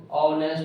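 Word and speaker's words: honest: ह होता है ना लेकिन यहां पर ह साइलेंट रहता है औ का उच्चारण किया जाता है ठीक है ना औ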